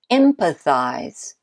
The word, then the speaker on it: empathize: Next, we have empathize. Empathize. What do you think? You should be an expert by now. The first syllable in empathize is the stressed one.